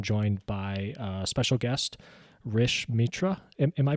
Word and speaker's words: Rish Mitra: and today I'm joined by uh special guest Rish Mitra am I pronouncing that correctly yep Rich awesome um